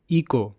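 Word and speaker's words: echo: এ বিষয়ে ফাস্ট শব্দ ইকো ই সি এইচ ও ইকো তো এখানে সিএইচ ক হিসেবে উচ্চারিত এটা প্র্যাকটিস করবে ইকো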